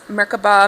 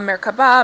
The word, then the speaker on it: Merkaba: It is seen in other cultures as Merkaba, Merkaba, Merkaba. There are several pronunciations, but generally you pronounce it as if the three syllables are separate with equal accents on each.